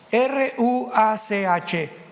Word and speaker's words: ruach: Apunten todos ustedes, los que les interesa en su Biblia la palabra espíritu, que es la palabra se escribe ruash. R U a c h.